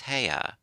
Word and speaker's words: Haigha: happy his name is heya he pronounced it so as to rhyme with mayor I love my love